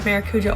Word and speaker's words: Maracuja: I think I have mentioned this in another video, but I pronounced it wrong. And I felt embarrassed since, but I'm pretty sure it's Maracuja oil.